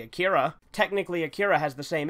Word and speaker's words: Akira: For instance, those same people never questions the way I say Akira. Technically, Akira has the same issue with pronunciation.